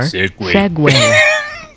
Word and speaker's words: segue: Segue or segway. Did you hear that? No. Segue or segway. Yeah, Tapion is right. It's pronounced segue as well, but it's suck it, bitches.